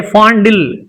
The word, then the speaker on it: fondle: The stress is on fa sound, so we have to stress and make it louder.